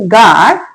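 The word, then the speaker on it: guard: जब किसी वर्ड में जी के बाद यू आए तो यू साइलेंट रहता है। जैसे कि गार्ड, गेस्ट, टंग।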